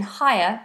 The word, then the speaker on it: higher: you please tell me if the GH in higher is silent yes it is so in the word